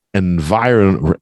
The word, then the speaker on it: environment: saying that one Bella environment environment environment environment Peter environment and we got four parts here it's kind of tough because you got that run mint in VI the stress is on the vi but in environment environment